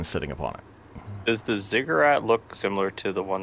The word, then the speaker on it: ziggurat: They have these tall black obelisks, and somewhere at the center of this thing is a I always say it wrong, but Zuggernaut, or a big temple. Ziggurat. Ziggurat with a staircase.